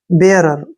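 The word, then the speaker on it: bearer: से बन गया रे, और ई आर का उच्चारण रे होगा। ठीक है ना। बेयरर क्या पढ़ेंगे इसको, बेयरर, बेयरर।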